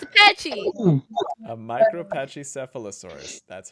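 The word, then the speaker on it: Micropachycephalosaurus: be content pakisaurus oh it's a pachy a micro Pache sealosaurus that's how you pronounce it J can't even say that that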